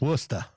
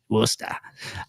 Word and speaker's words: Worcester: And if you're in Boston, it's Worcester. Worcester.